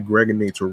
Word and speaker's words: Gregonator: This is your man and homie, aka the Gregonator, rhymes with now or later, like the candy.